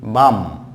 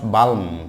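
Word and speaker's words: balm: তো এখানে এই বাম নট বালম, বালম নয় বাম, বাম, বাম।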